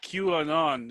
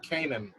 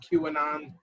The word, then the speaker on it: QAnon: you said that because i've been mispronouncing it in my head this whole time luckily i've never said it out loud but i've been pronouncing it like a character in the show power like 50 cents character yeah exactly exactly yeah i've been pronouncing it kanan um actually that's a